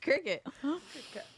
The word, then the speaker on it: Cricut: cric cut Cricut Cricket why does it spell like cric cut then I think it's I know I think they're being clever but you don't have to be clever at the pronunciation it's just Cricket I am not volunteering